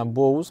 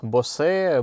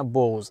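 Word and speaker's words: Bose: стоит премиум акустика bows кстати правильно говорить именно bows потому что у нас говорят boss boss еще как-то нет именно bows это фамилия человека который ее придумал звучит она неплохо но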